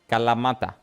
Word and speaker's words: Kalamata: How would you say it correctly? Calamata. Kala is the correct name. Ta. Not da da da. Like you would say tarnished.